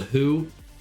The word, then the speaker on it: Hu: Oh, and if you've never heard of the Who, the Who is spelled H-U.